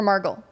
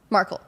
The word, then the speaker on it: Markle: Markle or Margle? Markle. Baba, you don't even know how to pronounce her Meghan name.